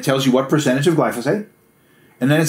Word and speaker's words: glyphosate: a chemical called glyphosate which i've heard pronounced and mispronounced a thousand different ways yes but they said it's glyphosate so glyphosate is bad